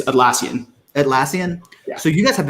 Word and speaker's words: Atlassian: do you say your company's name it's it's atlassian atlassian so you guys have a very sophisticated